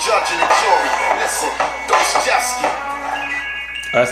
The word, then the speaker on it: Dostoevsky: Listen, Dostoevsky.